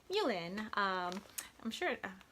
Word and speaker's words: mullein: Another tea that I've loved making is mullein. Not sure if it's pronounced mullein or mullein, but I pronounce it mullein. M-U-L-L-E-I-N, also known as graveyard dirt.